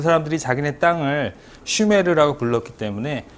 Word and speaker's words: 수메르: 그런 사람들의 인구 집단을 우리가 메르고 불러요 사실은 슈메르 슈메르네 우리나라말로 이제 슈메르 쓰려면 발음으로 써야 되겠지만 그냥 관용적으로 수라고 써요네이 사람들은